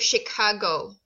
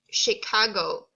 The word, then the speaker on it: Chicago: This is pronounced as Chicago. Say it, Chicago.